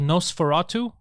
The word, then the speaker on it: NOS4A2: And there's a show called Nosferatu. You remember the vampire Nosferatu? But it's spelled like a license plate, like NOS4A2.